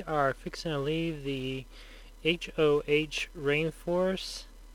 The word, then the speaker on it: Hoh: We are fixing to leave the HOH rainforest. I think it's pronounced Ho Rainforest.